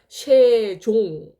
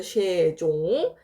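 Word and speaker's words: 솅종: 얘는 형식 형식 중성이고 얘는 실제로 받침 이응 이응으로 발음했던 얘는 발음이 되는 받침입니다 그래서 쉐종 이렇게 되는 거죠 쉐종 이해되시나요 자 그래서 종성이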